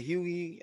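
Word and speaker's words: Hughie: there i'm seeing it it's huey how he his name is pronounced but i what we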